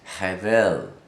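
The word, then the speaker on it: Hebel: Abel his name is heaven it's not a it's just an H h-e-b II L the B is pronounced like a V have ed and his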